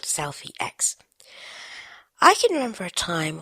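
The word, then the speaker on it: Slfie X: about a really awesome little app it's called Selfie ex that is s l f i e ex voice over pronounces it selfie but it is called Selfie X I can remember a time when cameras were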